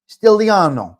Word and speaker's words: Stigliano: Stigliano. The G is silent.